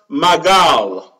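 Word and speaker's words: מגל: This word sickle, it is pronounced magal.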